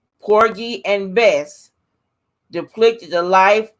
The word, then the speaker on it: Porgy: how do you think they were saying porky but it's poor G P o r gy Porgy and Bess now